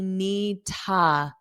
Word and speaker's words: need to: So when you have need plus an infinitive, so to is going to be need ta. Need ta. Remember, ni ta. The D is not pronounced.